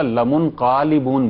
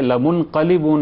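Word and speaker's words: لَمُنْقَلِبُونَ: دوسرا year lines میں، بعض ایئر لائنز میں آپ نے سنا ہوگا لمنقلبون بولتے ہیں، وہ تلفظ کا بھی غلط ہے، لمنقلبون ہے، قاف پر زبر ہے، الف نہیں ہے اس میں، یہ غلط تلفظ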